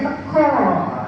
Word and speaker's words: teka: Teka itu bacanya teko, ya, datang di rumah, pulang maksudnya.